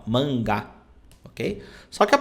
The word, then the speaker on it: mangá: uma página aqui a gente chama eles de mangá né ó mangá Ok só que a pronúncia correta é o seguinte aqui ó nós